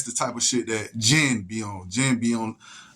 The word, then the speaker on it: jinn: So that's the type of shit that jinn be on. Jinn be on mischief. You feel me? So jinn is spelled Jin, but it's also Gin, like Seagram's gin.